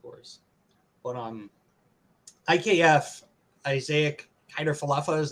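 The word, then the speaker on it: Kiner-Falefa: it's live of course but um ikf isaiah hyder falafa is how you say his name yes um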